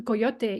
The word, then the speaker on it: coyote: you know the the coyote or I I don't know how people pronounce it differently in the states and in Canada like coyot I depends part of where you're from but so people work